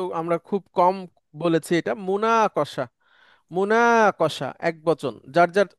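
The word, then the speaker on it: مناقشة: আচ্ছা, এরপরে একটা শব্দ আসছে, এই শব্দ আমরা খুব কম বলেছি, এটা মুনাকশা। মুনাকশা এক বচন, যার যার জায়গা থেকে মুনাকশা। একটু উচ্চারণ করে নেবেন।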